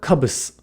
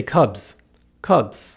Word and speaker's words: cubs: a different phenomenon here the s at the end of the word is pronounced more like a z than an s cubs not kabus right cubs not kabus